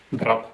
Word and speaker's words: drap: di Dra drap drap on le P comme étant une lettre que l'on ne prononce pas en français en russe on la prononce dans le mot Dra il prononce drap le P à la fin le lise jandarme jandarme